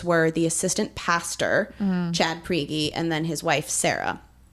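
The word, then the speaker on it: Prigge: had went to I I believe their last name is pronounced priy p r i g g e um they're going to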